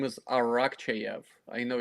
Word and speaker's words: Arakcheyev: you doing I'm doing great last name is arak chv I know it's not the easiest to pronounce okay that's cool that's awesome if our